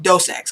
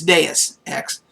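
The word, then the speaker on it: Deus Ex: this game d and he called it dose X because and I think I did too we didn't know how to say it at first and but it's deis X and uh it was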